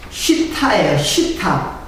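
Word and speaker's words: שטה: 이제 그 시띠나무가 약간 발음은 조금 틀려요. 근데 시띠이라고 이렇게 그냥 편하게 이렇게 썼어요. 이렇게 쉬타예요. 쉬타 H는 나무라는 뜻이고, 쉬타 H.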